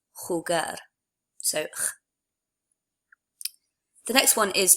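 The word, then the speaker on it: jugar: remember that for J the letter J in Spanish is always pronounced I suppose a little bit like an H in English it's from your throat sort of like so the word for chess is pronounced a head breath and the word to play is pronounced holger so the next one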